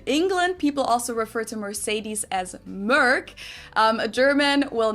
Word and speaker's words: Mercedes: So most Americans call this Mercedes. In German, we pronounce it Mercedes. So Mercedes versus Mercedes. Mercedes. So it's really pretty different.